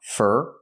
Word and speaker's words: for: For is pronounced fur because it's not stressed.